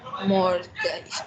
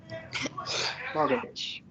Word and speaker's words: mortgage: Mortgage. Mortgage? Mortgage. The spelling is strange, so practice the pronunciation.